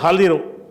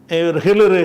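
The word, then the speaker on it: الخضر: சலாம் சொன்ன உடனே க்காலல் ஹலிர் அவர் நம்ம ஹிரு ஹிர்ங்கறாங்கல்ல ஹிலிர்ங்கிறது வந்து அது சரியான உச்சரிப்பு கிடையாது. அவருடைய பேர் வந்து ஹலிர். ஹலிர் என்பத வந்து என்ன செய்றாங்க நம்ம ஆளுக்கு வந்து ஹிளர் ஹிளர் நபிங்கிறாங்கல்ல ஒருத்தன் ஹீனா போட்டு ஹிளர்ங்கிறான்.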